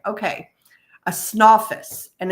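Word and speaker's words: Snawfus: And it's spelled s n a wfus is how it's spelled. Snoffus. Snoffus. Like what's the name of that character from a long time ago? Snalopicus. Yeah. Yes. Snalopus. Yeah. But it's called Snoffus.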